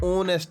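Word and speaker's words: honest: ये बात भी याद रखनी चाहिए कि ऐसे बहुत से वर्ड्स हैं जो एच से शुरू होते हैं लेकिन एच उनमें साइलेंट होता है।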